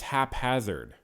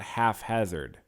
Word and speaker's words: haphazard: story short I guess it's haphazard and it's not half hazard it's not half Hazard because it's even though pH makes an F sound I guess it doesn't